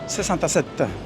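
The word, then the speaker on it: sessantasette: Po włosku wymawiane jak Sesanta Set.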